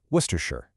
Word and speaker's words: Worcestershire: Then there's Worcestershire, which is a masterclass in just ignoring letters. It's just Worcestershire.